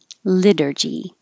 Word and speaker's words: liturgy: right information here okay liturgy the t will change to a d liturgy repairable repairable era parable